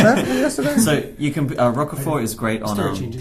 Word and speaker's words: Roquefort: So if you can get any of that, and I think it's Roquefort is the correct pronunciation.